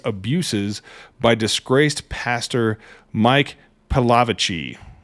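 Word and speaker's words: Pilavachi: by disgraced Pastor Mike palavicy I'm going to pronounce it that way pilavaci is probably how he pronounces it but I like palavaci the Church of England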